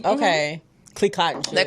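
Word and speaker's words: Clicquot: Is it Clico? Yes. Okay. Clico and shit.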